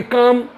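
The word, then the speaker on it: calm: psychology इसी प्रकार से अगर कोई कह था सी ए एल एम तो हम इसको पढ़ेंगे काम तो लेटर के साइलेंट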